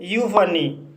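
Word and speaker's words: euphony: जैसे यूफनी, यूफनी शब्द में ई यू आया है और यहाँ पर ई यू का उच्चारण यू हुआ है।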